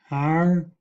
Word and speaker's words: hour: I will pronounce the English words: an apple, an engineer, an umbrella, an elephant, an hour, an honor.